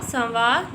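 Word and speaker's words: سنوارے: प्यारे बच्चों, जब हम इसकी हिज्जे करेंगे तो हम इसको नून पढ़ेंगे, लेकिन जब हम इसको रमा में पढ़ेंगे तो ये नून गुन्ना पढ़ेंगे। जैसे कि संवारे।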